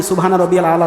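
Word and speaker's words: سبحان ربي الأعلى: আলা এখন যদি বলি সুবহানা রাব্বিয়াল আলা সুবহানা রাব্বিয়াল আলা সুবহানা রাব্বিয়াল আলা হলো ওখানে আইন আছে আমাকে উচ্চারণ করতে হবে ওইভাবে নামাজ পড়লে নামাজ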